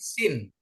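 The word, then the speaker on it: שׂין: Kalau dia titik kanan bacanya shin, SH ya. Kalau titik di kiri sin ya.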